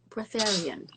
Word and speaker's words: breatharian: just become a genius I think I just said that wrong but breatharian is the right way to say it ready in da yeah